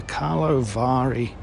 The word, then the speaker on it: Karlovy Vary: first evening of the opening ceremony of the Carlo Vari there you go that's how you pronounce it talovivari International Film Festival and I'm going to be